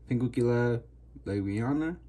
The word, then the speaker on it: Pinguicula laueana: It's supposed to be Pinguicula Laueana. Yeah, that's how you pronounce it.